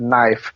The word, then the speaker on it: knife: Kind of like they don't have knife because, you know, silent K at the beginning and they need knives for food, which they don't have.